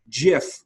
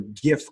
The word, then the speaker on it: GIF: talking about the format, GIF with the soft G was the preferred pronunciation as per the people who first brought the format into existence. While when you're talking about the culture, GIF culture, you would say it with a hard G.